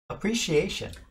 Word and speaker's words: appreciation: 그래서 강세를 Appreciation. appreciation 하고 tion으로 끝나는 단어는 항상 그 앞에 강세가 있어요.